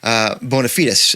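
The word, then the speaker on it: bona fides: really understand your rock bonafides, if I can pronounce it that way. That's the European way, Paul, I'm told.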